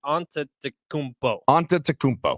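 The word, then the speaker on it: Antetokounmpo: a sneaky n in there somewhere but it's Ono an TMO yes that's correct uh has a 64o game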